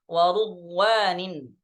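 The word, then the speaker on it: وَرُضْوَانٍ: Sedangkan di riwayat Syu'bah bi dhammir ra, dengan mendomahkan huruf ra. Nah, jadi baca warudwanin.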